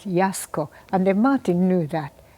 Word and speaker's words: Yasuko: and then that's true in Japanese if you say Yasuko and they'll say what and then because they pronounced it Yasco and then Martin knew